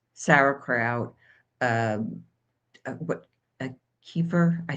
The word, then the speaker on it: kefir: I think it technically is keeper. I usually say kefir, but it I believe it technically is keeper.